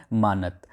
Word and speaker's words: manat: राजधानी है अश्गाबाद और यहाँ की जो मुद्रा है वो है मानत, ठीक है, या फिर मनात। यहाँ पर लिखी हुई है स्पेलिंग MANAT, ठीक है, कहीं कहीं पर मानात भी लिखा है, कहीं कहीं पर